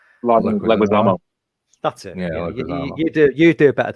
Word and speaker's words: Leguizamo: You pronounce it. John Leguizamo. Leguizamo.